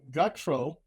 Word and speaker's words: Gutro: Tonight we have Rob Gutro. Am I pronouncing your last name right?